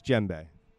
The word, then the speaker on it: djembe: a hand drum - djembe D is silent the D is silent yeah it's djembe sorry there you go okay